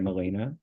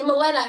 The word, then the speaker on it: Milena: hear you say it Molina Melena say Melena if you can get molena right I'll forgive you my last name molena